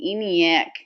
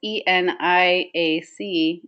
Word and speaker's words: ENIAC: Aha, Jean is saying ENIAC. That's how you would say it phonetically, Jean. But it's ENIAC, and I'll get to what